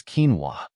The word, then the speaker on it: quinoa: is spelled as q n o the correct pronunciation of this word is quinoa quinoa means a grain crop grown primarily for